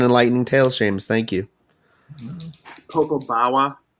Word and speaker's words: Popobawa: Popo Bawa, not Popo Bawa, man. Popobawa.